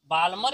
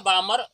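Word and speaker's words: Balmer: उसे हम क्या बोलेंगे, बाल्मर या बामर, एल को साइलेंट हम कर देते हैं, हाँ बाल्मर बोल दो या बामर बोल दो, यहाँ पे एल हम साइलेंट रखते हैं।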